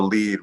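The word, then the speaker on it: lede: It's in journalistic language, it's called the lead, which is spelled L-E-D-E, to get it differentiated from lead, which is what we used to use for type back in the day, long time ago.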